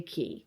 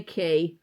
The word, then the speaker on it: Cay: but an island, Castaway Cay, which is spelt C-A-Y, but yet everybody pronounces it K-E-Y, even though it's spelled C-A-Y, which is K, not Key.